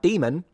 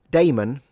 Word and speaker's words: Damon: It would have been enough to strap a Matt Demon. Damon. Damon. I always think I'm saying demon with a with an accent when I pronounce his name.